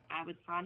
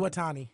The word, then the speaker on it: Iwatani: It's Awatani. The champion. You can say Mayu champion. Iwatani.